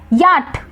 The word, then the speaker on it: yacht: Next याट, silent क्या है CHYACHT, पढ़ते क्या है याट और लिखते क्या है YACHT।